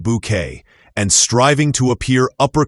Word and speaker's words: Bucket: Routledge's Hyacinth was the ultimate satire of pretension, constantly insisting her surname be pronounced Bouquet and striving to appear upper class at all costs.